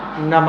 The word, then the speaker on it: नमः: हम आपको बताएंगे नमः नम नमः नम विसर्ग का उच्चारण है विसर्ग का उच्चारण कैसे करना हा की तरह विसर्ग का उच्चारण कैसे